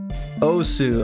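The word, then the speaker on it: osu!: Osu. Okay, thank you. Osu. Say it like that.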